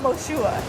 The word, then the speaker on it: Moshua: It's just like Joshua with an M.